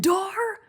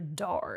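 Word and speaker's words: Dhar: the names and the locations oh is it dar it's dar isn't it it is okay oh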